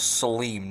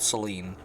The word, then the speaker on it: Saleem: the man's speaker name it was saleem not celine like celine but with the m instead of an end so